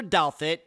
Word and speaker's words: Douthat: Christopher Douthat, and yep, that's how you pronounce his last name, had a rough upbringing.